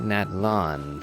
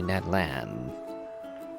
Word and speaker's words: Natlan: realm of Natan incidentally I was pronouncing it Natan for a while but it's apparently Nat Lan h oh well interesting